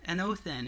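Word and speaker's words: ἄνωθεν: again it means an oath an oath in an oath in is how you pronounce it in the Greek it means from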